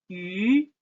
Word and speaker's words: 鱼: Fish, 鱼, fish, 鱼.